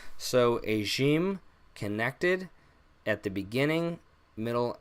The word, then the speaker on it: ج: is AG m-- so AG m-- makes a J sound just like in English it does at times make a little bit of a sound so if you think about French or Persian they have a letter